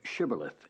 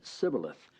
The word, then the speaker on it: shibboleth: Say now, shibboleth, and he said sibboleth, for he could not frame to pronounce it right.